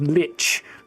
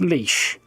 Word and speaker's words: lich: I always hear people pronouncing this as lich. Like that that's not No. Just no. It's leash. Just as in like you don't walk a dog with one of those.